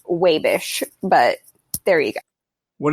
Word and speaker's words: Wabash: living in Indiana also it is not actually Wabash if you're from Wabash it's pronounced wave ish but there we go what are they saying